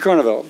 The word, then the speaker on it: Carnevale: just to say that mr. Carnevale if I have your last name spelled it pronounced correctly a little bit like carnivals so anyway what it